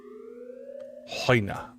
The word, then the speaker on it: Hoina: So it's not a ch sound. Hoina.